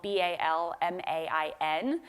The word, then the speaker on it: Balmain: The House of Balmain, which is spelled B-A-L-M-A-I-N, pronounced Balmain, that is a historic French house, and they were looking for a new person to run it.